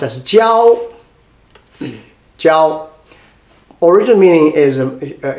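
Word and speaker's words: 交: The third one, we come with this one, pronounced as jiao.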